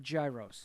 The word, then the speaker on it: gyro: Gyros so hey so don't spell it gyro if you want me to pronounce it hero just you put a H in there it's a soft yay so is Kanye